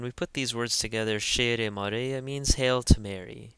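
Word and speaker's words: ⲭⲉⲣⲉ: So this one is shere, shere. Again, in Coptic we pronounce every syllable. So this wouldn't be like English. It's not sheer, for instance. It's shere.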